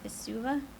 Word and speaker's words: Vesuva: I got a Vesuva. Yep. Is that how it's pronounced?